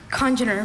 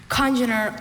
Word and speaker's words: congener: Congener, may I have the language of origin? Latin. Congener, are there any alternate pronunciations? Oh yeah, congener and congener.